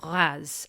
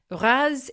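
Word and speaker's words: Reims: a direct train to Raz. And by the way, Raz is not pronounced how it's spelled, which is R E I Ms. Think R, but with a bit of a nasal French twist.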